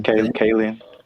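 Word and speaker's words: Kaling: Kayen.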